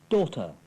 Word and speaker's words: daughter: The silent GH. 8. Daughter. Through. High.